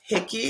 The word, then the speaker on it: Hickey: It's pronounced yes, Hickey.